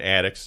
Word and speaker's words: Attucks: Crispus, that's Crispus, and Attucks, just like the what's above our head where the insulation, except it's spelled Attucks.